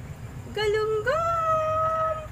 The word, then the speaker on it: galunggong: For today's video, magluluto ako ng galunggong! As in, galunggong! Maliliit na galunggong! Paano ba i-pronounce yun?